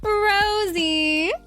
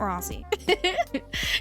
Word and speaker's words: Rosie: Don't call her Rossi. I'm telling you, don't fucking call her Rossi. It's not Rossi. It's Rosie.